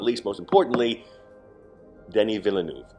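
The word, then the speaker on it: Denis Villeneuve: not least most importantly danny villeneuve denise villeneuve i have to say it like a french canadian because that is what he is what a filmography on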